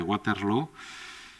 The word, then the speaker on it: Waterloo: hoy vamos a hablar sobre la batalla de waterlow y digo bien waterlow porque se dice a